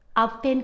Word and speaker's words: आपतेन: मैं उस कमले ज़िले से हूँ और कमले ज़िले में हम आबोतानी नहीं कहते, हम आपतेन कहते हैं। प्रोनाउंसिएशन, हमारा जो उच्चारण है, जो प्रोनाउंसिएशन है, हम क्षमा करें, हम उन्हें आपतेन कहते हैं।